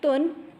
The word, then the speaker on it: dun: Will be pronounced as tun, tun.